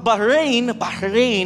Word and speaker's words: Bahrain: But Bahrain, as you pronounce it, it has the guttural sound sa H.